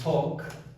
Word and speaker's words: talk: Eu abafo L, né? Na pronúncia, I talk, né?